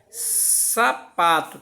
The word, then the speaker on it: sapato: Sapato. Então, qual foi a sílaba que eu falei mais forte? O sa, o pá ou o tó? Sapato. Então, eu identifiquei que é onde? No pá.